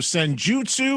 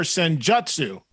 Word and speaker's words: Senjutsu: The proper pronunciation of the album, Senjutsu or Senjutsu? Tomato. Potato. Either is okay.